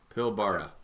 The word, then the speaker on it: Pilbara: western region of Australia what's the proper pronunciation of of that pilbra pilborough pilbara yeah that's gorgeous that's the uh